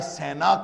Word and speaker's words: سینا: صحرا کے نام ہیں، جس کو آپ کہہ لیجئے کہ صحرائے سینا کہنا چاہیے۔ قرآن پاک نے اس کا تلفظ یہی بتایا ہے، طور سینا، کہ وہ